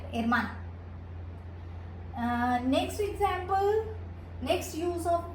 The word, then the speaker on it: hermana: H is silent, hermana.